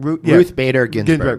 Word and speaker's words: Ruth Bader Ginsburg: Ruth Bader Ginsburg.